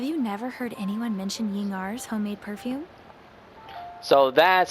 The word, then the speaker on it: Ying'er: While we're on the subject, have you never heard anyone mention Yingar's homemade perfume? So that's how you pronounce her name.